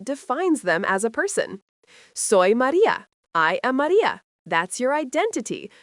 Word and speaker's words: soy: Yos soy pronounced soy means I am.